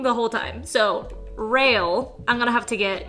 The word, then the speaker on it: Rael: Rael. Oh, really? Oh! It's pronounced rail. Okay, I guess I was saying that wrong the whole time. So, rail, I'm gonna have to